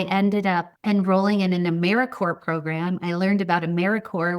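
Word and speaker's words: AmeriCorps: listeners who don't know americore thanks for pronouncing it the correct way it is not americ corpse and I'm also a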